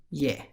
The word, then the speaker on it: यह: this pronoun is spelled as yaja it is pronounced yeah the second pronoun from the top of the